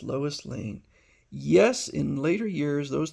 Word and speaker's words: Lane: Finally, do you know the girl whose last name rhymes with Maine? It's Lois Lane.